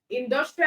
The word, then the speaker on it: industrial: industrial okay Endor Trail now industrial has how many syllables industrial it means he has three syllables and then the last syllable is TR ending with a l all right so it means that the second syllable or the second to the last syllable carries the stress okay so in do